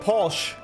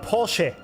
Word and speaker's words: Porsche: It's not Porsche. It's called Porsche.